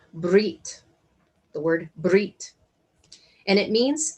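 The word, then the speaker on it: בְּרִית: a betresh yottav and it is pronounced as brit the word and it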